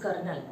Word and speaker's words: colonel: Always you people get confused in Colonel. The spelling is actually COLONEL. Okay? तो अब बिल्कुल भी confuse नहीं होना कि इसमें तो आर है ही नहीं, but still the pronunciation is very different, that is कर्नल.